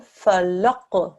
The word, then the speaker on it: فلق: Thick sound here, yeah? Falaq. فلق Well done. Okay. The qaf, when you make the sound, you should feel the very back of your throat, right at the top, the very back of your mouth at the top of your throat. That's where the sound should come, yeah?